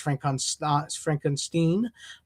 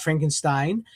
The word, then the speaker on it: Frankenstein: And there he meets Igor because it's pronounced Igor because it's pronounced Frankenstein, not Frankenstein.